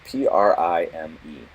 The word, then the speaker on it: prime: Prime is spelled P-R-I-M-E, but it's pronounced Prime.